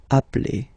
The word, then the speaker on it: appelle: So when you get this e vowel and then you get a double consonant, and well, they are the same, then it does change the pronunciation of e. You tend to pronounce it like really open. That's the reason why you pronounce it appel, okay?